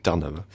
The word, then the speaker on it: Trnava: J'ai vérifié la prononciation sur Wikipédia, c'est Trnava.